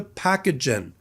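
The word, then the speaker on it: Pacagen: Thanks to Packagen. This episode is sponsored by Packagen. That's P a ca ge, pronounced packagen.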